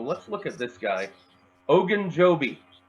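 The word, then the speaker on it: Ogunjobi: come together so let's look at this guy Hogan Joby say it with me now Larry Hogan Joby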